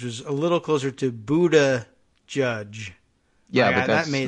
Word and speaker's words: Buttigieg: I liked Mika Brzezinski's pronunciation guide, which was a little closer to Buddha Judge. Yeah, but that's that made not sense he to me. says it. He says Buttigieg.